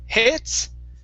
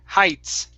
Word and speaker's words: heights: better and the last word here is heights instead of hits it's high heights height okay very nice very